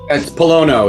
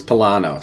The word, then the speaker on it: Pollono: is it Palo or Palo I've heard it pronounced two different ways it's Palo is the correct Italian pronunciation but awesome well that's where we go I grew up in the north east it was palano so I'm I I answered to both okay